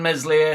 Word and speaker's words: Meslier: Elan Meslier, silent S in net.